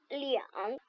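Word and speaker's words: 两: Quand on veut utiliser le chiffre 2 pour exprimer le nombre, on ne prononce plus R. On prononce liang.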